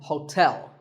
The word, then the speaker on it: hotel: interesting number 12 is Hotel there are two syllables ho and tell like the English word tell as in tell me the stress is on the second syllable so Hotel a related word is